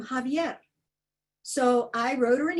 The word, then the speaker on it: Xavier: So an example of one of my stairwell teatros, I heard a newscaster call our state attorney general Xavier Becerra. Well, he pronounces his name Javier.